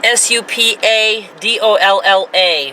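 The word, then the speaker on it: Super Dollar: And yes, it is Supadolla. For those of you who are new to this channel, we Mainers don't pronounce our R's.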